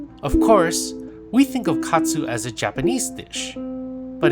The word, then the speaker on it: katsu: Of course, we think of katsu as a Japanese dish, but in Japan, it's actually considered yoshoku, or a Western-influenced dish. Katsu is the Japanese pronunciation of the word cutlet, and it is a